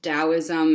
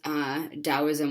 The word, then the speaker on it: Taoism: point out that sometimes Taoism is spelled with a T. If you see Taoism spelled Taoism or just the word Tao with a T, it is still pronounced with a D sound.